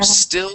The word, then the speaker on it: still: So here on still sticking to it, you said uh still is sticking. Okay. So let's remove the e in front of both of those s's. So still sticking to it.